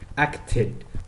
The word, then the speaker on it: acted: For example, the word acted, we add ed, which is actually gonna pronounce ed literally.